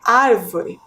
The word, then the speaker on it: árvore: observem aí na tela ao realizar a pronúncia da palavra árvore podemos perceber que a sílaba mais forte é a antepenúltima ar né observem ali que